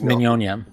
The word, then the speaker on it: Mignogna: Am I saying his name right? Is it Mignogna? It's Mignonia. Mignonia. Thank you. Mignonia.